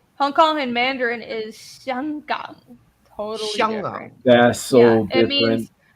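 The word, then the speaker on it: 香港: in Hong Kong in Mandarin is Xianggang. totally Xiangang. different. That's so Yeah, different. it of means how everyone aromatic.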